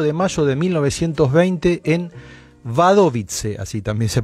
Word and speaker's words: Wadowice: Y había nacido el 18 de mayo de 1920 en Wadowice, así también se pronuncia el pequeño pueblo del sur de Polonia,